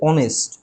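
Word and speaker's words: honest: তাহলে শুরুতে এইচ আছে কিন্তু এইচের উচ্চারণটা উহ্য রয়েছে, উচ্চারণ হচ্ছে অনেস্ট, অ অর্থাৎ এ বা ও, মানে ভাওয়েলের মতো উচ্চারণ হচ্ছে।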